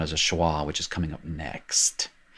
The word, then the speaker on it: schwa: for the first time i pronounced it she wa it's not shiwa it's schwa and it really it